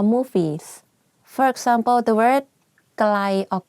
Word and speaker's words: ไกล: For example, the word ไกล or ใกล้ the pronunciation is the same, but the intonation are different.